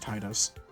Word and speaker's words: Tidus: And now enters our main hero, Tidus, or some people pronounce it Tidus.